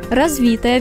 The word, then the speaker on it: развитая: деятельность развитая тема разговора если говорят о каком либо с видом скрученном предмете ударение ставят на второй слог например развитая веревка развилась коса будьте